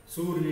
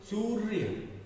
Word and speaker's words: सूर्य: फिर से एक बार बता देते हैं, जो ऊपर वाला र होता है, जिस वर्ण के ऊपर होता है उससे उसका उच्चारण पहले आता है। तो हम पहले सू का उच्चारण करेंगे, उसके बाद में इस र का करेंगे, फिर य का।